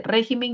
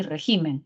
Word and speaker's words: régimen: re eso no no existe régimen y regimen no existe solo existe régimen mientras que en el